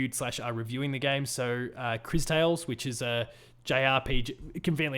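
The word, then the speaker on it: Cris Tales: Chris Tales? Yeah. Not like CHRIS, it's just CRIS. But it's still pronounced Chris, so it doesn't matter.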